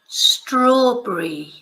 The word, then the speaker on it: strawberry: So the strawberry, as I was saying, it's like very difficult word to pronounce for Spanish people because, you know, it's just not pronounced anything like it's spelled.